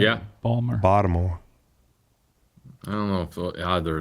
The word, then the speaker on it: Baltimore: Balmer, that's how they say it. Yeah. Baltimore.